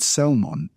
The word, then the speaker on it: Salmon: Naron fathered Salmon. So you pronounce the you pronounce the Lmon. It's not like that fish or e salmon.